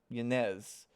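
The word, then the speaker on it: Ynez: uh the empress uh how you pronounce her name it's uh yanz but everyone calls her Nez so Nez so princess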